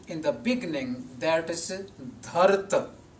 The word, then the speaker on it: Dharat: This word Dharat is different in structure, in pronunciation, and in meaning than the word dharati used in the first line of the shlok in jap composition at the end.